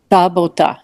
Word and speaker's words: събота: How do you say it? Sabato or something like that. Събота. Sabota. Just think about Sabota.